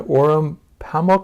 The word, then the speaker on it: Orhan Pamuk: Turkey, in a town that was featured in Orhun Pamuk, am I saying it right?